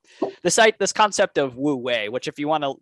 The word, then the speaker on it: wu wei: the hour um the site this concept of woo way which if you want to look it up it's not it's it's spelled w-u and then w-e-i uh and I'm